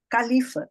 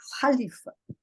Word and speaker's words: Khalifa: A gente fala Califa, quando na verdade é Khalifa.